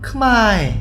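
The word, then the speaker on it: ខ្មែរ: 다음 아래에 있는 이런 크마에 이런 글씨를 봤을 때 왜 크메라고 읽지 않고 크마에라고 읽습니까? 커는 어그룹이고 모는 오그룹인데 어그룹을 따라가면은 크마에 오그룹을 따라가면은 크메가 되는데 왜 굳이 크마에라고 해야 합니까?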